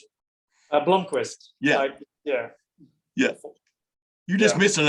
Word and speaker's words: Blomqvist: How do you pronounce it? Blomqvist. Yeah. Yeah. You're just missing an O, right? I mean, am I right about that? Blomqvist. It's Yeah. Blomqvist. I mean, in Sweden they pronounce it Blomqvist, but it's too complicated for me, mate.